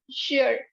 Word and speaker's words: sure: have to say sure you try and make a pout clench your teeth and shh blow it and it's it's somewhere in between these two sounds okay so if you try to say say and shirt together this would be sure look at me now